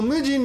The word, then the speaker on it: 無人: Okay, so mujin means unattended. This really means no. Mu is nothing. Mujin, and this can be pronounced jin, nin, or hito. In this case, mujin.